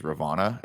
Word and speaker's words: Ravonna: I'm curious as to how, I think her character's name was Ravonna.